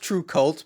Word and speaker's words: Trve Kvlt: of curiosity the spelling it's pronounced true cult but it's spelt differently what's uh is there